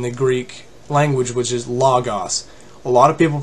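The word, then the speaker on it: λόγος: as logos but the a non-greek speaker doesn't realize there is an omicron and an omega which both have the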